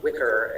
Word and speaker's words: Wickr: And as an alternative, in my experience, for something that doesn't use a phone number, I have more, but Wicker, aka Wicker Me, I think it's spelled WICKR, is one where you just make